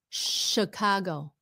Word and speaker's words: Chicago: Sh is a sh sound. A ch. Chicago. Chicago. No. No. No. No. Okay. Okay. So, Chicago cargo go